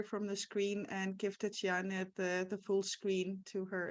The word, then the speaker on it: Tiziana: My name is pronounced Tiziana.